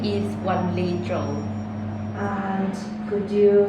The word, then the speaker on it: Wanli Zhou: confirm your name please uh my name is one Le Jo and could you spell it for me please uh it's w a